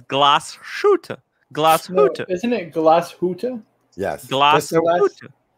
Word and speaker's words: Glashütte: By the way, he taught me how to pronounce Glashütte. Right. It's Glashütte.